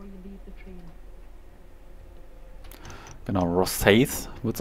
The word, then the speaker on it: Rosyth: Genau, Rosyth wird es ausgesprochen.